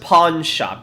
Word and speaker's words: pawn: it would it's it's it's pronounced pawn shop you're making it sound like porn it's Pawn like pra